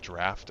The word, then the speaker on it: draught: Is it draught or drought? Solution. Problem is, all of these potions that I want to buy are like inside the college. It's like draft?